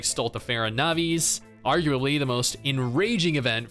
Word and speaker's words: Stultifera Navis: main story these also feature Unique Mechanics like stultifera navis arguably the most enraging event for me other